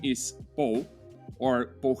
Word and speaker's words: Pol: lead whose name is paul or paul how do we pronounce it correctly in spanish yeah paul's fine i would say paul if i was speaking catalan or spanish but but yeah i